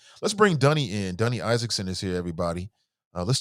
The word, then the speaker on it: Dunny: Yeah, well, the first thing I like to tell people is that my name is Dunny Isaacson. It's spelled like Danny, but pronounced like Sunny with a D.